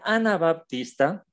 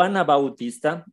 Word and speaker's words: anabaptista: como había comentado ya el nombre Ana baptista o Ana Bautista se puede pronunciar de las dos formas de Ana Bautista o